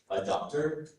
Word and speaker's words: adductor: Of course, there are two pronunciations for this word. Adductor, adductor.